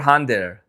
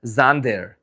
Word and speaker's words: Xander: I was always Do I pronounce Xander or Hander? Xander. I don't know why I'm Hander. Actually, it it must have been a It must have been J for me to pronounce Hander. So, it's Xander. Xander.